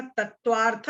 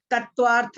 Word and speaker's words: तत्वार्थ: तत्वार्थ श्रद्धानम सम्यक दर्शनम, ठीक है। तत्वार्था श्रद्धानम नहीं बोलना है, नहीं तो लोग बाग